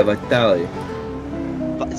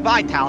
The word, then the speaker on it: Vitali: his name yeah vital it's not vital it's Vitali vital yeah oh my God